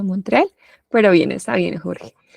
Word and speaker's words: Montreal: Singapur bien Montreal Bueno no es monterreal sino Montreal pero bien Está bien